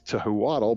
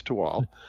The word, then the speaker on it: Tehuatl: project is called tewal it's spelled t-e-h-u-a-t-l which would probably make you think it's tohu waddle but it's not it's to wall and it is a